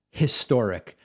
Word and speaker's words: historic: going to interrupt the thing about historic is there are some words where when it's pronounced in isolation they have a very clear consonant sound like if i just say historic but historic has a relatively soft h when in context and that is why